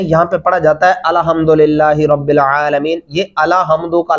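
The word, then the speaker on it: الحمد لله: کتنا بدل جاتا ہے الحمد پڑھنے سے۔ درست تلفظ کیا ہے؟ الحمدللہ۔ آگے چلیں گے، را زبر با، را، با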